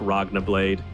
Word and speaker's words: Laguna Blade: Lena's abilities Dragon slave Laguna blade it's pronounced like ragna blade in uh in the anime so you know ice